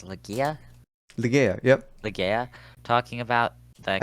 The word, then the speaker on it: Ligeia: Ligea, talking about the I think she pronounces it Ligeia. So you can use whatever pronunciation you want. It's from an Edward Allan Poe poem. So you can pronounce it however you feel comfortable.